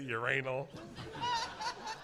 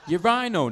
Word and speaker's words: urinal: You say uranal. Urinal. Not uranal. Urinal. Like a rhino, but urinal.